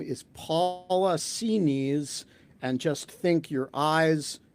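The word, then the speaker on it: Xinis: I spoke to a uh clerk uh in the court uh and she sounded authoritative uh and she said it's pronounced C knees and so uh I think that that sounds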